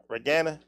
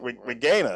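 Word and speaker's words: Reginae: rag in the corner regana Regina no it's pronounced like Regina or something like that but yeah for me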